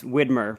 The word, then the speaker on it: Widmer: it's a great question it depends on who you ask but if you ask Curt and Rob it's Whitmer brothers everybody in Portland says